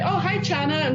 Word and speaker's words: Chana: Right, it's pronounced Chana. Chana. Because it's a Hebrew name. In English, it would be Hannah, like Hannah. with just an H.